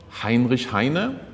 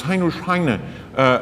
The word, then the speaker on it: Heinrich Heine: It is not Heinrich Heine, but it is Heinrich Heine, very Frenchly pronounced, so he became part of the French culture.